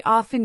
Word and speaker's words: often: When saying times, we often use am for morning and P.M. for afternoon/ evening. Also note that often can be pronounced with or without the T sound. Both are correct.